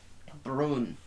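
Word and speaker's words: Brün: Yes, it's spelled B-R-U with the 2 dots N. Brun. Is that how the U with that is accent like is an ooh.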